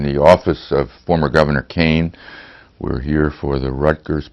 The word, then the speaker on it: Kean: and they said because if it's k-e-a-n pronounced kane that's irish the scots will pronounce it keen but there are a